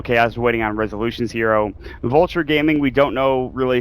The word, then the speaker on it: Vultur: Is it Vulture Gaming? Is it people? Vultur? It's probably Vultur. I'll stop pronouncing it Vulture just because I think you're right, actually.